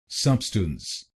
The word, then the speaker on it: substance: तो बनेगा सबस्टेंस, सबस्टेंस, सबस्टेंस, सबस्टेंस, सबस्टेंस, सबस्टेंस। और इस शब्द में आपको पहले शब्दांश पर यानी SUB पर जोर डालना है।